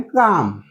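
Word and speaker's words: calm: म्हणायच रिप्लाय द्यायचे आयम काम ओके वाचताना पण लक्षात ठेवा त काम च spelling C ए एल एम आहे एल हा सायलेंट आहे मग तुम्ही कस वाचणार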